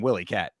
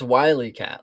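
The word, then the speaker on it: Wyatt: I thought they were saying Willyat. It's Wyat. Like wy coyote, I Yeah, I mean I get that, but All right, maybe they were just mispronouncing.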